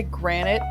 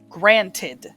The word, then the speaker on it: granted: I was supposed to say granted, but due to my accent, I say granite. It is not the correct English pronunciation of that word, but it is what I say. But technically, yes, I said granite, even though it's supposed to be granted is the turn of phrase.